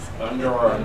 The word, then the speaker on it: plunder: Plunder. Plunder. Nuri? Plunder. Good. Listen, plunder. Plunder. Plunder. Mark? Plunder. Lovely, thank you. How many syllables? Two. Yeah, absolutely.